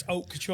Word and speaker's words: haute couture: it's haute couture or is it haute couture?